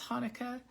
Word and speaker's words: Chanukah: because the um word the Hebrew letter that starts Hanukkah in Hebrew is a and so it has more of a kind of sound than a h sound so that's why most